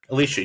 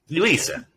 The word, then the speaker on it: Elisa: Alicia, you first. Elisa. I always get your name wrong.